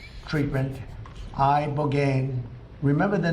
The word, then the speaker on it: ibogaine: It's called Ibogaine treatment. Ibogaine. Remember the name. Is that pronounced relatively properly, would you say?